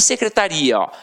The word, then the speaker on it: secretaria: e você tem secretária E você tem secretaria e aí já é o que já é diferente já não é mais uma paroxítona terminada em ditongo aí você já tem